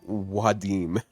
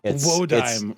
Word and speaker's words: Wodime: Krishtaria Wadim. Wadim? I've heard it I pronounced that believe way. it is Wodime, my yeah, good it's sir.